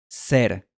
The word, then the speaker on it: ser: Felicitaciones, ya puedes pronunciar 3 palabras españolas con este sonido. Cero, pero y ser.